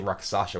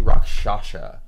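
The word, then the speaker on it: Rakshasa: Rock, I always pronounce this. It's I say Roxasha. It's actually Roshasha.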